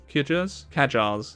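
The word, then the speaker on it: Qajar: the I'm sorry I don't know how to pronounce that quar kajar ah thank you shall I meet with the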